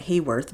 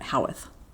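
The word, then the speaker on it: Haworth: I always said Hworth before I knew how to say it, but in New York they pronounce it Howeth.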